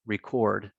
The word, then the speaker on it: record: So for example, anytime these are used as verbs, the stress is on the second syllable: present, progress, record, rebel.